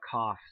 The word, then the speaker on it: cough: And then also you have cough, C-O-U-G-H. And it's pronounced like an F.